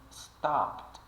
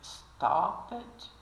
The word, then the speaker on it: stopped: nós temos algum exemplo alguns exemplos Stop vira stopped e aqui esse essa essa letra esquisita aqui